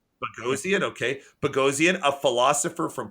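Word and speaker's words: Boghossian: this wrong Peter basian I think he pronounced it bagian bagian I think bagian okay beian a philosopher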